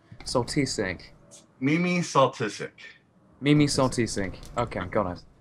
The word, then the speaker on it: Soltysik: I see, that's what I thought it was, because Kieran thought it was pronounced, the S was silent, so we thought it was Soltysik.